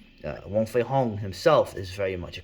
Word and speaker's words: Wong Fei Hung: the whole character of wong fei hong who i always pronounce like that because that's how they pronounce his name and uh usually i